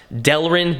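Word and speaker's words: Delrin: made out of incorrectly it's actually pronounced delin not Derlin now it doesn't really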